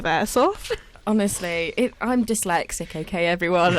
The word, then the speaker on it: airsoft: just saying is she is she saying aerosoft instead of airsoft honestly i'm dyslexic okay